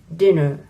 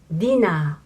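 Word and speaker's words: ディナー: but we say and also dinner but most japanese cannot recognize the sound dinner dinner we say dina dina dina no thank you for watching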